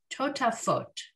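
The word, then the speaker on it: טֹטָפֹת: Right, so those dots on the upper left corners are our O sound, right? The vav with the dot on top, but they didn't bother printing the vav. They just print the dots for us to pronounce them as O's. And again, so we've got 3 T sounds going on in this word, totafot.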